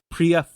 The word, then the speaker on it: Priya: say it wrong my name is pronounced Priya Priya honey Suhani yes